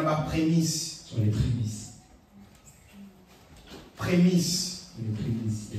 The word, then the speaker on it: prémices: Prémisse. Les Il faut bien le prononcer prémisse sinon pourquoi il y a la primus.